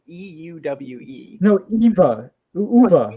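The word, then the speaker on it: Euwe: Alyakin, and then Irva, which is spelled E-U-W-E. No, Eva. Uva, right?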